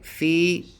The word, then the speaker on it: Phoebe: Okay, Phoebe with a stress on the first syllable. Phoebe. The vowels in Phoebe, it's the same vowel, I think. It's not Phoebe, it's Phoebe. It's just that the first one is probably longer.